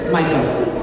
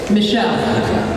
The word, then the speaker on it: Michel: And she said to me, his name is Michael, right? Michel. See, I always have time to get that name wrong, Michel.